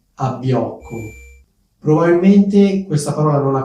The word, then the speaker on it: abbiocco: e divertente che è abbiocco. Probabilmente questa parola non la conoscete perché comunque è una parola piuttosto informale, colloquiale, quindi forse non l'avete mai sentita. Abbiocco è un sostantivo maschile, si scrive con 2B e di solito viene